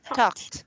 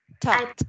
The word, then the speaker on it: talked: Okay, the ED here is pronounced as T. Okay, it's past tense. Talked. Mm-hmm. Yes. Talked.